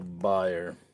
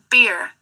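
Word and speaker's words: bier: Beer. Beer. It's not buyer. It's beer. Beer. All right. So, that's beer, not buyer.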